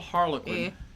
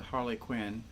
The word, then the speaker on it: Harlequin: It's a little Harlequin. Jessica pronounces it Harley Quinn.